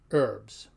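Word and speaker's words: urbs: can hear them both we find the exception at the end of a word where the BS sounds more like a b z so for the word for city is pronounced herbs now two C's CC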